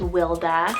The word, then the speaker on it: Wilda: rooted meaning vineyard w name here gorgeous is wilda so w-i-l-d-a wilda means to strive another great